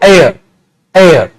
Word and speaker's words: heir: इसको तो देख रहे दोनों की प्रोनाउंसिएशन में, इसको हेयर, इसको एयर।